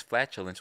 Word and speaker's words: flatulence: spazzed at that because flatulence when you say that the first syllable that that comes into your mind is is at the flat right and and it's punching on on that syllable so that's how you